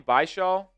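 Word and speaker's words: Bhayshul: Bashaw.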